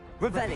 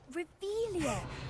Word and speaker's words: Revelio: Revelio. You're saying it wrong. Ugh, Revelio. Much better.